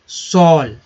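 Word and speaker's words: shawl: सॉल, देखिए यहाँ डब्लू जो है साइलेंट हो गया है, एल का उच्चारण हुआ सॉल, मीन दुशाला या सॉल भी बोलते हैं, इसे सॉल भी बोलते हैं।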